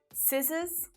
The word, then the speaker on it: scissors: Muscles, scissors, seam. I mean, really, that C just doesn't need to be there because S is doing all of the work making the sound anyway, right?